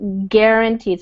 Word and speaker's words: guaranteed: so the success was guaranteed so you caught yourself there Yuki that's good this G is a hard G guaranteed so he knew that